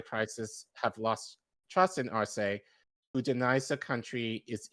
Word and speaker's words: Arce: Luis Arce? Arce.